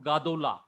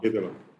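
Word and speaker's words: גדולה: If we add a ending, it will become gadola. But since third syllable back, we have to do as short as possible. That is, you have to shorten it. Then it will become Shiva, Gedola.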